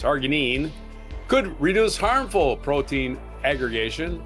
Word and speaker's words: arginine: Previous research from the same group suggest argonine could argine I think it's pronounced arginine could reduce harmful protein aggregation and disorders such as spinal cerebral taxia type six or scar six.